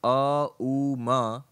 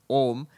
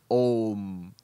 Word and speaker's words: Om: What happens is, in Sanskrit grammar, when you put an A and an U next to it, it joins and it becomes O.